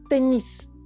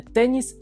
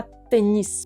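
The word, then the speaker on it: tennis: це слово теніс е ми тут читаємо теніс наголос на останню не теніс а теніс Ой а далі в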